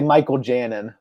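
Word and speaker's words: Mikel Janín: name now yeah well we say Michael Janan right and yeah so I'm I'm 99% sure that's how you say his name because I saw it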